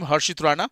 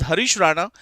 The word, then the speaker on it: Harish Rana: says that Harish Rana I I mispronounced the name Harshitana this is Harish Rana not an easy decision